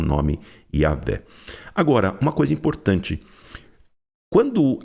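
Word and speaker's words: Yahweh: eles dizem realmente que a pronúncia de Deus ela não é não é Jehová, ela é provavelmente Yahé, tá?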